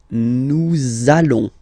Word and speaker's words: nous allons: link between the words, so it does mean that you will have to pronounce this z sound, okay, listen to me, nous allons, nous allons.